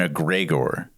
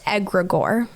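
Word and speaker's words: egregore: other people were using the idea of an aggregor.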